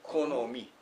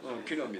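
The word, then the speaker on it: 木の実: いいえ、「きのみ」です。ん。信じられない。「このみ」と読むと、子供の果物とも道とも読めるので、面白いですね。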